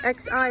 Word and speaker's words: Xi: Xi is pronounced she.